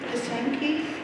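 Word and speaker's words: pysanky: Pisanki?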